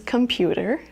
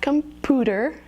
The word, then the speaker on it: computer: Another very common mispronunciation is computer. So it's not computer, remember, it's the diphthong.